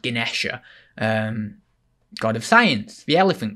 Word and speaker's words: Ganesha: And Ganesh, or well, actually, I think it's pronounced Ganesha, god of science, the elephant god, cool god.